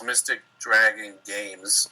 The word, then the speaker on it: Mystic Dragon Games: and uh uh well just to clarify it's mystic dragon games i knew i was saying it wrong no